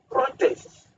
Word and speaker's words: protest: that's one aspect then protest you have you see you have the stress on the first Sy protest when you say protest